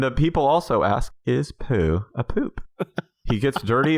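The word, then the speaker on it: Pou: who what's it called p-o-u but it's pronounced poo oh i've never heard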